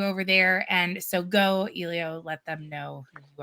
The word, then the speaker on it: Eleo: I say Elio, and it's Elio.